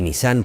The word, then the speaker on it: Nissan: La pronunciación correcta en japonés es Nissan, más cerrada de lo habitual. Y Nissan puede traducirse como hermano mayor.